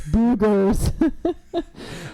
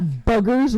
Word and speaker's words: boogers: no no okay it's the same argument I will make for boogers root beer and roof they have two o's I'm with you it's not buggers rough and R beer